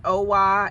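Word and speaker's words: OWA: it OA OA it's o w with is pronounced OA and so that was I would say is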